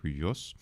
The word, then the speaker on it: υἱός: because the pronunciation, just both of these really represent the same sort of pronunciation. That is, we have the diphthong of the letter upsilon and the letter iota, right? So that's ui, ui, ui.